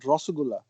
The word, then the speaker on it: Rasgulla: Rasgulla or how do you pronounce it? Rasgulla.